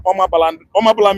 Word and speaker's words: Omabala: We are Omabala meaning Anambra. Omabala is called to pronounce in Igbo until British man come and change it to Anambra.